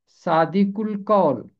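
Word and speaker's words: صادق القول: अलिफ लाम के बाद कौफ हरफे कमरी है, इसलिए लाम की आवाज़ खामोश नहीं रहेगी। काफ मिलेगा लाम के साथ और पहला हिस्सा अलहदा रह जाएगा। सादिक का आखिरी हरफ मिलेगा जाके लाम के साथ। इसका तलफ़ुज़ होगा सादिकुल कौल।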